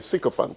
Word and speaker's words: sycophant: Sycophant. That's how you pronounce it. Yeah, that's what it is. That's what it is. You'll be given two alternatives by Daniel Jones, but the one that has wider currency is sycophant. Is sycophant, not sycophant. Sycophant is a second option.